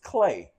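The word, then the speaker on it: Clae: Uh his name is Marcus Clay and it's spelled differently. It's spelled M A R Q Us. That's Marcus. That's how he spell it. And Clay, he spelled it C L A E.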